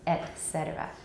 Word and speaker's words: et cetera: and then say cetera et cetera et cetera okay etc etc etc are pronounced with the glottal stop at the beginning of the vowel okay i say ah